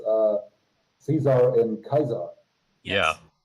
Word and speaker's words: Caesar: and all the uh Caesar's Legion NPCs also just say Caesar instead of Kaiser omitted all of that